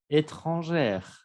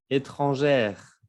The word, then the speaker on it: étrangère: Étranger, étrangère. Aquí cambia la pronunciación. Se escucha la R en el femenino, pero en el masculino no. Étranger, étrangère.